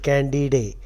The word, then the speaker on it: Candide: or candid in English you are likely to pronounce it candid day because the spelling is